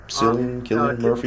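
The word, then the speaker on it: Cillian Murphy: Killian Murphy.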